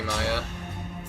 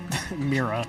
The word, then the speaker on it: Mira: I agree, Maya. Mira. Mira, thank you. I've been saying that wrong the whole night.